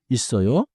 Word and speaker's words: 있어요: FTH smooth the link 있어요. sounds like 있어요. like like 없어요.